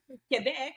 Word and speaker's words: Quebec: And I know I'm mispronouncing it. I have no ability. Quebec, but the English people are saying Quebec.